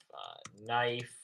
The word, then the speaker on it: knife: but you will see a silent K if it's before the letter N. But here, kite, there's no N after the K, so it's kite. Kicks. There are a couple other silent K words.